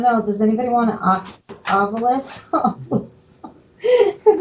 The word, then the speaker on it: Ovilus: Ovilus. You say Oculus.